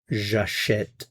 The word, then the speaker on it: j'achète: Remember, the infinitive is acheter, but when I pronounce this form, j'achète, achète, achète. So you do hear a sound for this vowel.